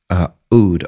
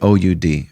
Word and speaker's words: oud: Oud, O-U-D, or Oud is how it's pronounced, but you don't have to say Oud.